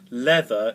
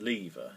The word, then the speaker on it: lever: Scott, who's Scottish, says leather instead of lever. Now that's wrong, because if you're Scottish, you pronounce it lever, yeah.